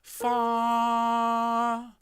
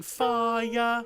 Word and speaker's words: fire: And the last thing is the word fire. I'd like it to have one syllable with just a little tuck at the end. So what? Fire. And so just before the note ends, you just lift the sound in your throat, so we get fire rather than fire with 2 separate syllables.